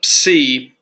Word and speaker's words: psi: And the psi is pronounced like the PS in lips.